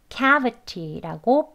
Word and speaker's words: cavity: 바로 앞에 있는 이 K에 해당하는 이 음절의 강세가 있어서요, cavity라고 발음합니다.